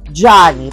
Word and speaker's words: Gianni: Yung kanyang correct pronunciation is Gianni. Parang John na may Y.